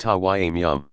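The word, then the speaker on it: tayammum: which case it is called tammim pronounced Hawaii meow clearly the idea is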